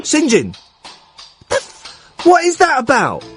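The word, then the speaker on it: St John: is St dot John you know how that's pronounced don't you singen Singin the what is that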